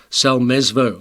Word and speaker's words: Salmesvuo: recording we talked about how do i pronounce second name selmesvo i got it right but apparently many people call me just by the name because they don't attempt the second name so that puts